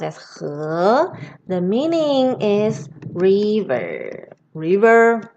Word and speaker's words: 河: And this character pronounced as 河.